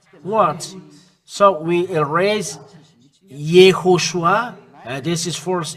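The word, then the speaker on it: יהושע: When vav, there is dot on the top. It's O, Iho, because we have repeated the way to pronounce in Bamid, in the Sefer Torah, Bamidbar, YAHOSHUA. When there is those three dots, it means this is sh and u. It means u.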